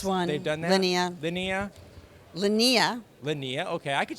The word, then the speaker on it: Linnea: so super cool we are hanging out with Lynnae Quigley did I pronounce that right everybody walks up to you